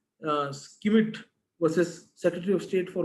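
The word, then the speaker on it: Schmidt: Again, what we pronounce it as Skimit versus Secretary of State for Home Affairs.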